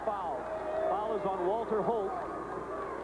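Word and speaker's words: Hoult: foul is on walter holt it's pronounced holt but it's spelled h-o-u-l-t there this won't surprise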